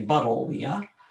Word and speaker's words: Buddleia: Okay, hibiscus, Buddleia, named for David Buddle. So we should say Buddleia.